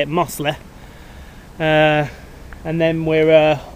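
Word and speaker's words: Mossley: mo mosley hill that's how you say it muslim uh and then we're uh off back of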